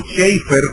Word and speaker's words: Chafer: Lewis Sperry Chafer, o Schaeffer, como se debe pronunciar en inglés, que es uno de